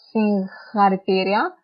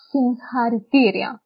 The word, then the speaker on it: συγχαρητήρια: Το γάμα διαβάζεται σαν ν όταν μετά το γάμα έχουμε χ. Ναι, για παράδειγμα, εδώ. Γάμα, χ. Τότε το διαβάζουμε όχι συγχαρητήρια, το διαβάζουμε συγχαρητήρια.